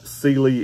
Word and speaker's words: Sealy: And that is the correct way to pronounce that. I actually asked them because I've seen a ton of people pronounce this a ton of different ways. And Sealy is the correct way.